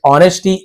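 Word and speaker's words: honesty: Learn the business with ऑनेस्टी, S silent है, ऑनेस्टी बस पढ़ेंगे, हॉनेस्टी नहीं पढ़ना, एस साइलेंट होता है।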